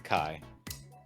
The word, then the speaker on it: chi: spelled Chi oh it's pronounced k k it's pronounced Kai guess yeah it's Kai Kai the one that looks like an X